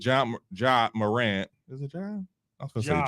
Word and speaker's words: Ja: Is it Ja? I was gonna say Ja.